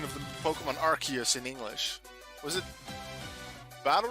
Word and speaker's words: Arceus: but then it was and then i think in early like vocals for the pronunciation of the name was rc's but then they thought wait in british english arse is a bad word so then we're going to change the pronunciation to arceus and not have the word arse in the pronunciation so now it's arceus there's some pokemon